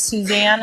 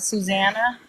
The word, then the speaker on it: Suzanne: before my ex found out my name was Suzanne and not Suzanna I just I just thought he called me